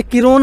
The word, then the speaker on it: Kirron: है आप बोलोगे किरोन बोलोगे या फिर बोलोगे क्या बोलोगे आप मुझे ही बोलिए सिर्फ अंग्रेजी में नाम लिखने की स्पेलिंग चेंज की है क्योंकि आजकल न्यूरोलॉजी का